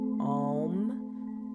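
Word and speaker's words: aum: famous chant of all om om right it's actually spelled a u m some people spell it om M um when chanting om really want to emphasize that a sound a uh with some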